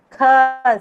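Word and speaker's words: ख: Second kha. This is second kha. You have to stress and pronounce. Kha. Kha sound should come out of your mouth.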